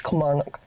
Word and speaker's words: Kilmarnock: And Kilmarnock. It's Kilmarnock.